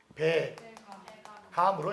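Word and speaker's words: 백암: 모음으로 시작되는 건 연음이 돼요. 연음이 뭐냐면 소리가 뒤로 이어진다는 얘기예요. 연결해서. 그래서 이거 발음이 어떻게 되니? 배감으로 읽히죠. 원래 로마자 표기는 얘들아 소리 나는 대로가 원칙입니다. 소리 나는 대로. 그래서 배감이라고 읽히죠.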